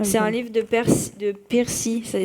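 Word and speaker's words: Piercy: livre de Percy, ça s'écrit P-I-E-R-C-Y.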